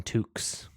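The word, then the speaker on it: toque: it back um in Canada we call them Tukes you didn't even spell it right it's t-o q-u-e I gotta watch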